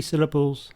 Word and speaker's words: syllable: For example, the word syllable has 3 syllables and the stress is on the first one, syllable.